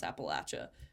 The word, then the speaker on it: Appalachia: This is how I pronounce Appalachia, and it's overwhelmingly Appalachia, of course, which is fun.